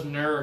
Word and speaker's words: nerd: first 9, which was nerd. And one more time, Marcella, nerd. Nerd. Really good pronunciation. And then the next time she said kind of nor, but she corrected herself. And she said, Nah, and er.